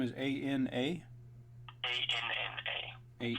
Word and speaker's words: Anna: A-N-N-A. A-N. Spelled like Anna, pronounced Anna.